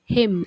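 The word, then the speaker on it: hymn: श्रद्धांजलि tribute tribute bhajan हिम एच आई एम हिम pronounce करना है हिम निजी तौर पर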